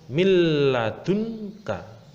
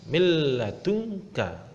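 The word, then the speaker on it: مِن لَدُنكَ: Yang kedua ada nun sukun bertemu dengan huruf lam. Cara membacanya milladunka, milladunka.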